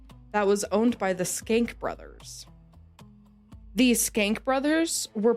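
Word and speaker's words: Schenck: That's how it's said, but it's not how it's spelled. How's it spelled? Kind of like shank, but I looked up the pronunciation of it and it was skank.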